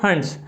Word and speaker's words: Hund's: जो वैज्ञानिक आए थे वो थे हंट्स, जिसको हम लोग हिंदी में हुंस भी कह देते हैं, बट ये इंग्लिश में प्रोनाउंसिएशन इसका हंट्स रूल है।